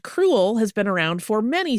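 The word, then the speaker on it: crewel: The word cruel to describe this type of yarn which is spelled c r e w l not cruel like being mean uh is derived from the Welsh word for wool which is cru.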